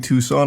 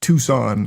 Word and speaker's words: Tucson: I don't know enough about Arizona, but the way you keep pronouncing Tucson is like Carl Weezer with croissant.